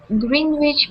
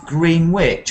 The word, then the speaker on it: Greenwich: She was born on the 7th of September, 1533, at Greenwich Palace. That's an interesting place, because it's not pronounced Greenwich, actually. Do you know GMT is from Greenwich as well? It's Greenwich. There's even a Greenwich.